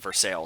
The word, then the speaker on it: Versailles: wait by the way I just said Versailles and I know that that sounds weird but that's because in Pennsylvania we have a town called it's spelled Versailles but called for sale so when I read that word I hear Versailles I figured you had